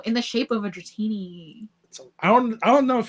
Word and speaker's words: Dratini: Before Bikini Dratini, it was almost girl at the beach opening packs, and Dratini rhymes with bikini.